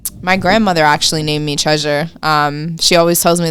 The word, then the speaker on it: Tresure: this for everybody yes treasure is my real name the way it's spelled is without a a so t-r-e-s-u-r-e but yes that's my